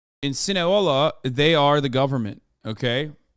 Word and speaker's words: Sinaloa: Am I saying it wrong? Sinaloa? Sinaloa. You said Sinahola? No, I didn't. I don't even know how to. Sinahola? I don't think I've ever said that. You said it wrong once, and chat can't shut the fuck up. You did once, but every other time you've been right.